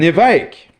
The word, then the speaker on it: évêque: But now we pronounce it l'évêque because a bishop is pronounced évêque.